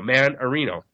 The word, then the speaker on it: Mannarino: And I'm trying to remember how to say his last name by saying Dan Marino, because it sounds like Dan Marino, Mannarino.